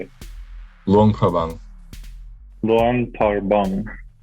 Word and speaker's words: Luang Prabang: Luang Prabang.